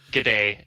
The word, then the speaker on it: GDA: Is it true they pronounce it G'day? G'day. They do say G'day 2020, so the older ones, they've got G'day 2000, I think.